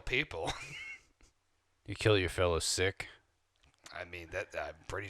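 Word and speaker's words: Sikh: Indian I'm actually um I'm a sick or a seik as they say in America siik that's how you pronounce it like my religion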